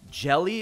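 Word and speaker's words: Hjelle: I believe the H in his first name is silent. I think his name is Sean Jelly.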